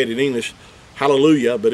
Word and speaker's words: hallelujah: our english translations i think it's written as hallelu j-a-h but we know everyone pronounces it hallelujah or halal not hallelujah ja that's not how we pronounce it now so